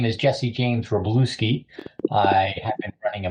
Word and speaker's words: Wroblewski: Okay, so first of all, I had difficulty pronouncing your other name. Not a problem. Is it Wroblewski? Yeah. Wroblewski.